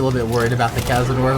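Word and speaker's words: Casadare: Kazador. It should be just Kazador.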